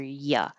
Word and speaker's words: ya: But keep in mind that it does look like YA, ya, but we pronounce it like um, up. It's the sound in the middle.